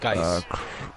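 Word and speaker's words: Guice: Gooch. Whatever. I mean, he's not gonna Geis. fumble the It's ball, Geis. so good to know. It's Geis.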